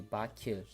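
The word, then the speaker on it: Bakı: But Baku actually is pronounced differently. In Azerbaijani language, Baku will be Baku, Baku, Baku, Baku, Baku, Baku, Baku.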